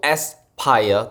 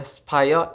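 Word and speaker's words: SPIRE: Entertainment bernama supaya Entertainment pertamanya aku kira cara bacanya itu spiel ternyata enggak ternyata bacanya supaya Entertainment mereka ini debutnya pada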